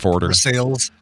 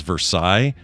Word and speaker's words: Versailles: Cuz Versail, let me just say something. When you look at it and your first inclination is Versailles, how would you even get there? I mean, other than historic knowledge, otherwise you look at that and go, "Well, that's like Versailles or Versalis or some other shit."